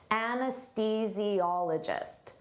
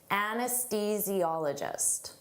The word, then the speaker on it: anesthesiologist: Don't let the spelling confuse you. Native speakers have difficult with the pronunciation of this. Anesthesiologist. Anesthesiologist.